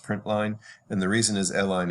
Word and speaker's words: println: Println is usually pronounced print line, and the reason is line is short for line.